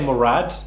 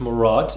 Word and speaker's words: Murad: and pronounce it properly people say murad it's maraud that is how you pronounce my name and you know i